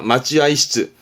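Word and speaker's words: 待合室: 발음이요. 마찌아이시즈입니다. 마찌아이시즈. 대합 발음은 마찌아입니다.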